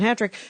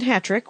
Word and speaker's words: Hatrick: And your name is Jason Hatrick, which is spelt like hat trick. Correct. One T.